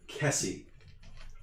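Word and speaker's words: Kesi: A Lashunta priest of Abadar named Madelon Kessie. Madelon is spelled Maid Lawn. Kessie is spelled like you'd expect Kessie to be spelled, but with slightly less letters. It's just K-E-S-I.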